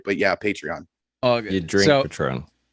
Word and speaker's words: Patreon: jesse uh was asking are you talking about patron or patreon which i think you mean patreon uh what you were mentioning yes patreon i knew i was saying it wrong the whole freaking time i'm in my head going uh that doesn't sound right but yeah patreon you